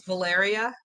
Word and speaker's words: Valeria: me yes yes yes you are pronouncing my name it's valeria yes beautiful name okay